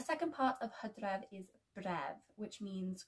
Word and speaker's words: bref: And the second part of hydref is bref, which means call or cry.